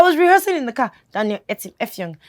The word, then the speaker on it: Daniel Etim Effiong: It's not hard to pronounce. Daniel, no, I was rehearsing in the car. Daniel Etim Effiong. Daniel Etim Effiong.